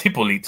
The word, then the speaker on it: Hippolyte: It's Hippolito. Thank you. I'm gonna find him. Hippolito. Yeah, Hippolyte. No, it's Hippolyte.